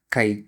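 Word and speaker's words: χ: So the symbol that I use to designate mole fraction will be Kai. Okay? So it's a kind of C hi. That's how we need to pronounce it.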